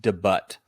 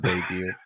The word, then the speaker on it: debut: I hate to break it to you, buddy, but it's pronounced debut, not debut.